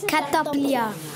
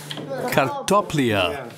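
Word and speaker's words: картопля: Kartoflia. Kartoflia. Kartoflia.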